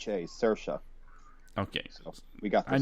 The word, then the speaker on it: Saoirse: It's just pronounced Saoirse. Well, I'll just say the madam. Sursha. Saoirse. Okay. So we got this. I knew there was a sh in there somewhere.